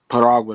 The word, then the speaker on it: Piragua: Now the new album, and you got to make sure I say it right, Paragua. Piragua, that's right, Piragua.